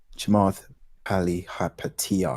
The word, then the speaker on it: Chamath Palihapitiya: Chamath Palihapitiya, I think that's how you pronounce his name.